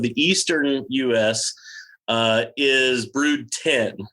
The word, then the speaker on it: Brood X: So it just so happens that when they got to brood 10, it looks like brood X. So people have been mispronouncing it, but it's really brood 10.